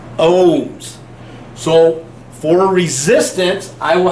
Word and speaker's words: ohms: Greek letter Omega however we use the Greek letter Omega but we don't pronounce it Omega we pronounce it ohms so for resistance I